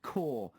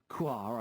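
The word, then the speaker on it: Kaur: the pronunciation of bubbly quoi i believe i pronounced it phonetically it's actually pronounced core he's texted again this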